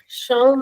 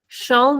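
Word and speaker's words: chão: Shia means floor. So ch gives a sound of sha. We read the example shavei. Sha. Shavei is key. Shiao means floor.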